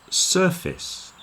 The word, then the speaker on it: surface: word is surface surface now obviously that second part is the same as face but you'll notice we put a lot of stress on the sir so the face part gets contracted down and it becomes more like fist fist surface surface then we